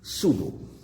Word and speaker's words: pseudo: So here we will discuss in this section, firstly, when we see the word, those have PS, then P is silent. The next word in this section is pseudo.